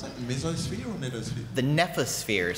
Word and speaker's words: nephosphere: The nephosphere. So it's from the Greek. So nepho is Greek for cloud. So and N-E-T? The, hmm? N-E-F. How do you spell it? N-E-P-H-O-S. Nephosphere.